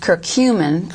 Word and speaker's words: curcumin: produce ourselves curcumin which comes from turmeric that's pronounced curcumin okay from turmeric which is a a little